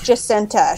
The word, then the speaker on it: Jacinta: My boyfriend kept calling her Jacinta, and I was like, okay, that's not her name. And Jacinta. Yeah. She's Jacinta. She's Jacinta Trimalchio.